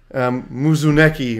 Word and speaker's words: Muzuneki: then another from Joey Muzuneki, which I'm hoping I'm pronouncing correctly. If I'm not, that's not your name. I'm sure it's Muzunekis or something. No, it's Muzuneki. Huh. There's no S at the end.